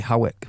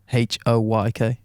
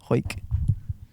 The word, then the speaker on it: Hawick: So I'd say Hawick, but she's said pronounced Hoyk. Hoyk.